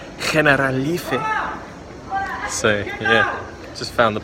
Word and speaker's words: Generalife: into this place called General Life. I was just speaking to some Spanish girls and they informed me that it's actually pronounced Generalife.